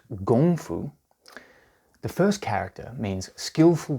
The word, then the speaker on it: kung fu: first let's start with kung fu pronounced gongfu the first character means